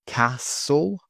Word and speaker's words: castle: Silent T. Listen, castle, whistle, whistle, fasten, fasten.